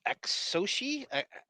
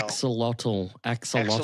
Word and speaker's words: axolotl: Axoshi? How do you with the LOTL? Axolotl.